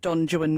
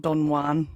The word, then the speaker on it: Don Juan: I pronounced it Don Juan, not Don Juan, for some reason.